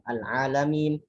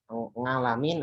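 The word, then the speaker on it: العالمين: Ada Al-Alamin, ada Nasta'in. Ya, ini paling sering berubah menjadi apa? Ngalamin atau nasta'in atau jadi hamzah.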